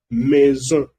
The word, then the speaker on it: maison: Así que por eso aquí lo pronuncia une maison, de maison. También no significa de maisons, es maison. ¿Por qué la S se pronuncia Z aquí? Porque cuando S está entre dos vocales se pronuncia Z.